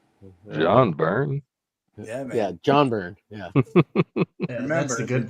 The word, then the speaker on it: Byrne: Yeah, John Byrne. Yeah. Yeah, that's the good burn. The G is silent.